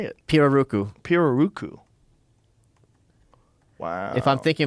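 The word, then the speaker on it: pirarucu: Piraruku.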